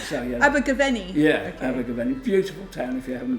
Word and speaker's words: Abergavenny: Well, you got Abergavenny in the end, so yeah. Abergavenny. Yeah, okay. Abergavenny.